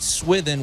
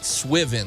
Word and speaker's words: Swithin: Sonny and chair um so originally I thought you I thought Saint swithin was Saint swiven like the s-i-w or swimming you said swimming one time yeah because I couldn't tell the way you pronounced but it's s-w-i-t-h-i-n-s and I'm sure Alan